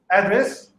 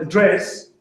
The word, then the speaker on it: address: In English, there are many words where if the stress is on the first syllable, address, it's a noun. My address is, I'm not going to tell you. And if the emphasis is on the second syllable, like address, it's a verb. The state president addressed the nation, or he's about to address the nation.